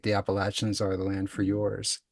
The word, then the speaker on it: Appalachia: First, thank you for pronouncing Appalachia correctly, though we extend grace to anyone who pronounces it Appalachia.